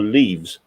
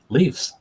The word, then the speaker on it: Leafs: Just on Andy's question, is it Leafs or leaves? Leafs.